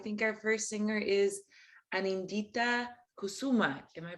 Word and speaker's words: Anindita Kusuma: I think our first singer is Anindita Kusuma. Am I pronouncing that correctly?